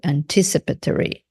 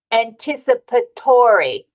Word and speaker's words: anticipatory: on the second syllable anticipatory so remember sometimes when we add syllables to words the stress comes on a later syllable so anticipate anticipatory yeah